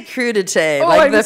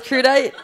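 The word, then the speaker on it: crudités: We say crudite, French people. I had no idea. This whole time you thought it was crudite?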